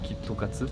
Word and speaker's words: KitKat: Japon parce qu'en fait la manière dont tu prononces en japonais ça fait kit ça peut se lire kitokat kitokat c'est dire tu